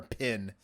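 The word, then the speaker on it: Penn: who worked with Danny I think you said pen but you might be saying pin well his name is spelled p-e-n-n uh I I thought it was going to be pin at first then I'm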